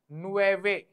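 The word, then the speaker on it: nueve: nine is हाउ टू से nine nine is नुवे नुवे नुवे is nine and नुएवो इज न्यू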